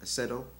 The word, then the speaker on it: Acedo: name um I believe the name is Sergio aceto all right and I'll spell it is s e r g i o